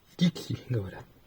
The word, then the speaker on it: Тикси: По- русски говорят «Тикси». Ударение падает на другую гласную.